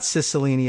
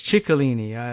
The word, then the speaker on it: Cicilline: go on and say it's not Cicilline it's chicolini okay Cicilline alright fine I